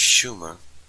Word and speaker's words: Sumer: Scholars relate that the name Sumer is pronounced Shumer, and the SH for S, indicating a linguistic relationship with early Goidelic.